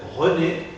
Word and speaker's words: René: C'est le cas de René, c'est la première syllabe d'un nom propre, René, Monsieur Petit, ou Monsieur Degermont. Alors, quand je parle d'un nom propre ou je lis un nom propre, et il y a